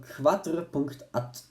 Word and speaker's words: quadr.at: Then I was just scrolling through Instagram and saw an ad of from an account called quadr.at, pronounced quadrat.